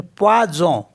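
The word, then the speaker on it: poison: और पी ओ आई को पढ़ेंगे प्वा तो पवाज पवाज मीस होता है पॉइजन अब देख लेते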